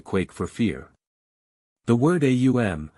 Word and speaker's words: AUM: according to the rules the Hindu word eum represented the three powers combined in their deity Brahma Vishnu and Shiva or the creating preserving and destroying Powers a the first U or oo the second and M the thir this word could not